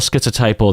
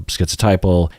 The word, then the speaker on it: schizotypal: looked it up and apparently the T sound in schizo is what I figured is that in German when you have a z it makes a t sound so that makes sense to me so including the T sound in schizophrenia or schizotypal is more in line with the original pronunciation of it I wonder what people